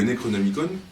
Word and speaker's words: Necronomicon: Le Necronomicon, je ne sais pas, on peut prononcer à la grecque ou à la française, qui est un livre qui daterait du...